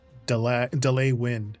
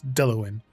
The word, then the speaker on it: Delwyn: I've been reading your name is either Delwyn, Delwyn, Delwyn, and then I'm like, oh my god, it's delay win, right?